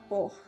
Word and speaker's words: porte: Pero algo muy importante es que el francés, cuando una palabra termina en E, por ejemplo, la palabra porte, que nosotros podríamos pronunciarla así en español, no se pronuncia la E. Bueno, más bien no suena como tal.